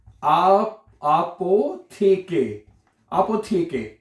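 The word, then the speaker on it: Apotheke: अपोथिक हैं। देखिए स्पेलिंग मैंने कहा ना देखें आपोथेके अपोथिक आपोके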